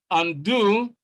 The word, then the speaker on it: undo: 41, A, undo. B, ago. C, unless. D, legal. So you can see that in A, stress is on the second syllable and do.